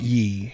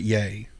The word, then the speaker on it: Ye: It's not ye. He pronounces it yay.